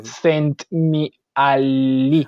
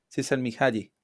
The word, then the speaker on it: Csikszentmihalyi: o Mialai, sí, es que es imposible de pronunciar, Venga, Csikszentmihalyi. ah, Sí, joder, pero si esto yo lo decía ahí. Csikszentmihalyi.